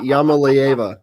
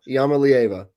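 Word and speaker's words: Iamaleava: It's uh Yama Leva. Yama leava.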